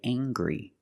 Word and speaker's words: angry: I can say he's very angry. We use the nasal sound M plus the hard G.